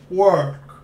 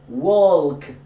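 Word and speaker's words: walk: ورك نو ماشي ورك ووك جود مزيان حوايج بسيطه كت انا نعطيك مثلا ووك بيرفكت ورك.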